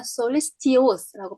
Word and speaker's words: solicitous: 만약에 tious라고 하고 싶으시면 여기 강세가 들어가면 solicitous라고 발음할 텐데 여기 강세가 안 들어가면 여긴 li에 강세가 들어가죠. solicitous 이렇게 발음이 되죠.